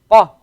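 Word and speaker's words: ق: The difference between Qaf and Kaf is that the Qaf, in order to pronounce the Qaf, you go a little bit further down your throat to get the Qa sound. Qa. Very sharp sound.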